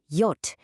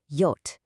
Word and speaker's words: J: J is pronounced yot. It sounds like an English Y, as in Yogurt. This one trips up a lot of learners, so really try to remember yot.